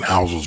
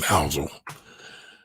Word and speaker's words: Housel: that um i thought morgan morgan houses book was one of the better books that i've read in quite some time uh and i'm spelling his name wrong his name is morgan housel i'm his name wrong